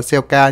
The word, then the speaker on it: Celica: ca con này đọc bạn đọc tên chính xác là siêu ca Nhưng mà mình hay đọc là seleca tập tinh thuần Việt